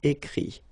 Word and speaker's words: écrit: IRE here, IT, but then phonetically it's I as well because you don't pronounce the final T, okay. Écrire, écrit.